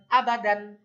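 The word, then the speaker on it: أبدا: আ বা দাল আলিফ দুই জবর, দান, আবাদান, আবাদান, আবাদান, আলিফটা হলো নো সাইন সাউন্ড।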